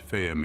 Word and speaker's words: Vehm: some have seen in the word pronounced firm in German the Arabic firm wisdom